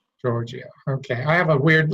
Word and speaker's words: Giorgio: I have with me, and I'm going to say the name wrong, so I'm going to let you say your last name. Giorgio. Giorgio.